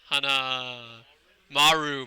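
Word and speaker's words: Hanamaru: Hana Maru.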